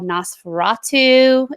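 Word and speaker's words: NOS4A2: son and it's called Nosferatu it is that's how it's pronounced but it is spelled out like kind of like a license plate so you know s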